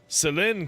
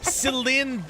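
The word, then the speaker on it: Celine: Um Selen can she's a great singer and she can train as much as she wants.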